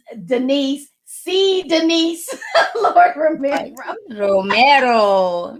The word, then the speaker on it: Romero: Romero. Romero.